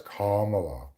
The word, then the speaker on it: Kamala: it right camel no my name is not camela it's kala okay my name is